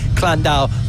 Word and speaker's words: Llandow: which way is spoken but uh I'll say clandau for uh for this time no I gallery